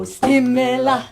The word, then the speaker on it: stimela: Oh stimela, oh stimela, oh stimela. That's it. And if you can do a bit of a walk with that, forward on the first syllable.